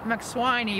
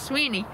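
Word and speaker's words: Mac Swiney: s w i n e y like it's pronounced mawani but it's actually pronounced maeni and uh his fee is going to be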